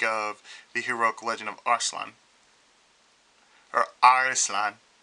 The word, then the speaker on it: Arslan: They pronounce it, it's like this. In the old anime, they used to call it Arislan. Arislan. I don't know why, but, you know, that's pronunciation. So we got Arislan or Arslan. But I'll probably call it Arislan. Japanese pronunciation would be Arislan.